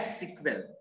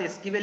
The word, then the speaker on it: SQL: इट is pronounced as सिक्वेल। इसको हम लोग एसक्यूएल तो लिखते हैं लेकिन इसको प्रोनाउंस करते हैं सिक्वेल। बहुत सारे लोग सिक्वेल इसको बोलते हैं, तो मेरा भी आदत एसक्यूएल ही बोलने का है,